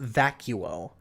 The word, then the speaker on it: Vacuo: Yeah, no, like, people were like, it's pronounced vacuo, actually. And I'm like, okay, so I gave them the benefit of the doubt and assumed it was vacuo, right?